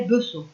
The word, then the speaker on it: Besson: Madame Besson. Tu sais comment ça s'écrit? Ça devait s'écrire Besson, B-E-2-S-O-N, mais on l'appelait Besson.